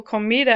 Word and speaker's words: comida: Comida ends in a vowel. If it ends in vowel N or S, when you pronounce it, you naturally pronounce the next to the last syllable as the stressed part of the word.